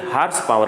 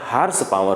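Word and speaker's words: horsepower: पावर का है तो उसको जनरली हरवास पावर कहते हैं उसका प्रनंसीएशन हम लोग गलत उच्चारण कर देते हैं तो इस तरह से आपको आज के बाद गलती नहीं करना है उसका प्रनंसीएशन क्या होता है हर्ष पावर होता है वैन एचपी मतलब हर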